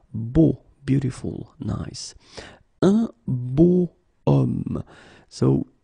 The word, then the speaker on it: homme: Okay, and it's not a vowel at all, but then in French we don't pronounce it.